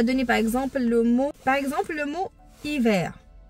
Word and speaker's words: hiver: Hiver, il y a un H qui est muet, mais seulement pour faire voir qu'il est tout doux. On le prononce pas, mais on ne le prononce pas, mais il est là, il est tout doux.